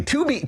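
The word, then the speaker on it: Tubi: TB. No, Ty. Exactly. 2B. 2B, Jesse. Sorry.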